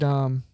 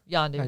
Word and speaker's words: Yondu: For standouts, we do get the guy that played Wandu. Michael Rooker. Yeah, Yondu. yeah. Oh, How do you say his name? Yondu with a Yondu? Y. Yondu. Yeah.